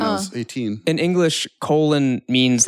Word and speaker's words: Colin: Colin, but pronounced colon for like no reason.